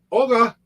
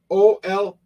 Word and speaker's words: Olga: It's spelled Olga. I've tried that a couple times, but that hasn't gotten a response either. I'm mispronouncing her name a little bit. Olga. The spelling of her name is Olga. How you like it said is Olya.